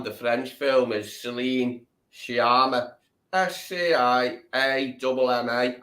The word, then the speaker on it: Sciamma: Spell it now. Go on. Sciamma. Shima. That's Shima.